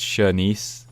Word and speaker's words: Shenice: for by the way my name is pronounced shernice okay thank you for that